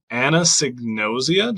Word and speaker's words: anosognosia: much for joining me today to talk about Anna signosia did I say that right you got it